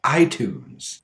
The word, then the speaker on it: iTunes: There are, of course, some words that should have the flap T, but don't. Words like military, politics, detail, iTunes. Each of these words have a stressed syllable before the T, but we don't unstress the T.